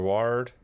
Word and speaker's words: Ward: Ward. It rhymes with hard, not Ford.